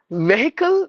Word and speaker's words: vehicle: silent so toas totas vehicle no V with the long sound V again the letter e long sound V like K there's a word called like that so vehicle that's how we have to pronounce it not vehicle not vehicle not vle something like that it should be vehicle vehicle vehicle and then